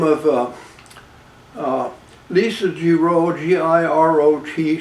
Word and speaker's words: Girot: name of Lisa Girot, G-I-R-O-T, she pronounces it Girot, Lisa Girot, claiming to have inherited my property via essentially two estates.